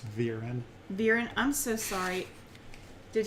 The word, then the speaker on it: Viren: It's Viren. Viren, I'm so sorry. Did he pronounce it wrong, or did I?